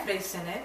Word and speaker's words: Freixenet: Cava, Freixenet, Cava. Freixenet. Cava. Is that how, did I say it right? Freixenet.